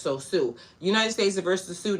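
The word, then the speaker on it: Sioux: I don't really want to be out here pronouncing stuff all wrong cuz we don't need to do that. Sue. Sue.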